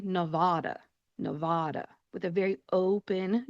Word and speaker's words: Nevada: When you say this state name, you are going to say Nevada. Nevada.